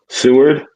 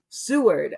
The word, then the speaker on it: Seward: Seward. Seward.